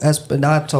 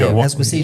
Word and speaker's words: Esposito: And that's why I would pick Giancarlo Espinato. I always say his name. Esposito. Esposito.